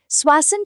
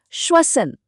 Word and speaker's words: श्वसन: नमस्कार, स्वासन chest hospital में आपका स्वागत है। और हां, एक बात पर जरूर ध्यान दीजिएगा। इसका सही उच्चारण है श्वसन। स्वसन।